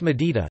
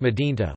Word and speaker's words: ܡܕ݂ܝܼܢ݇ܬܵܐ: medienta, city, pronounced medita, not asterisk medinta, with the mantalkiana over the nun, assimilating with the ta.